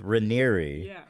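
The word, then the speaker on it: Raniere: these documentaries is that Keith Rainier is was like a very I don't care yeah apparently I've been saying it wrong Keith Ranieri was a incredible speaker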